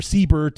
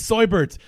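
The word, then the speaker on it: Seubert: pronounce his name right they kept hitting his last name wrong sahabat or Siebert or sit it's soy birds it's soy bird just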